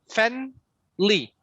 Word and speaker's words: family: You don't really need to say family, me. The me, it's not right. It's family, family, family, family.